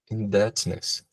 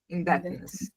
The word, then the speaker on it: indebtedness: Thinking that is debt, how would you pronounce this word? Indebtedness. Exactly. Indebtedness. Indebtedness.